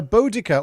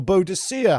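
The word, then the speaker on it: Boudica: if I'm not mistaken, it's it's uh Bodica or Bodhicia, however you pronounced it on Boda. Yeah. Or Bodhica. it. Yeah, it's up for grabs that one. Says Bodika.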